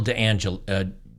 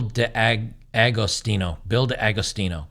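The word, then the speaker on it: D'Agostino: And if this is from Bill DeAngelo, I keep mispronouncing his name, Bill DeAgostino.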